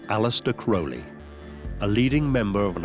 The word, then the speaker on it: Crowley: Crowley in his own writings he said it's pronounced Crowley it runes with Holy One Day in Cairo